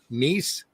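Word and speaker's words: Kneece: book writing by mark neese that's niece with a silent k making comics like the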